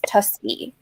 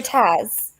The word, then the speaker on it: Tusby: Her name is Tusby. 2 syllables. Tusby? So easy, right? Tusby. People couldn't get it. They'd call her Taz.